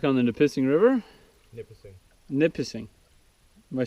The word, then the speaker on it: Nipissing: Nipissing. Am I saying it wrong again? Nipissing. Nipissing. Back on the Nipissing River.